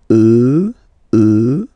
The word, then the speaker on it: eux: Remember, final x not pronounced. E, e, and then plural elle, elle.